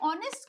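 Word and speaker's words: honest: रही है इसलिए लेकिन जब हम ऑनेस्ट को स्पेल कर रहे हैं तो ह की जो साउंड है वो साइलेंट है और साउंड हमें किसकी ए रही है ओ की साउंड ए रही है विच इस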